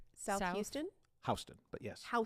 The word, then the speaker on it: Houston: It's pronounced Hston.